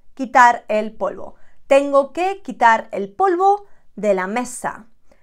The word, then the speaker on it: quitar: This one can be tricky to pronounce if you do not know the pronunciation rules. It's quitar, quitar, quitar.